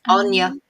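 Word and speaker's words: Áine: What about How did you pronounce it? Aine? Aine.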